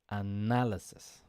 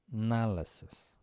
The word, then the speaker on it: analysis: I can help you the stress is on the nah analysis has found 25